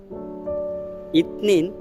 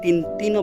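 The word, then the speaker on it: اثنين: ইতনিন দুই, তবে কোথাও কোথাও তিন তিনও বলতে পারে, ইতনিন কিংবা তিন তিন।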